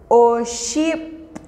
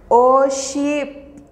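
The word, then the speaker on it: oxib': La pronunciación es Hun. Hun. Kep. Kep. Que significa dos. Oship. Oship.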